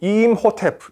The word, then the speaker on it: 임호텝: 원래 발음 대로 하려면 " 임호 텝 " 처럼 말 해야 합니다 .